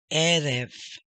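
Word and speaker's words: ערב: Va, ye, he, Erev.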